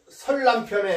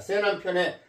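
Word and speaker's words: 세난편: 한비자의네 설남편이라고 하니고 새남편이라고 읽습니다. 예. 왜냐면 이게 말씀 설자도 되지만 그 어떤 유세 활동을 한다. 우리가 지금 요즘 대통령 선거하죠. 유세 활동을 할 때 유세할 때 그 셋자라고도 읽습니다. 새남편에 나오는 말인데요.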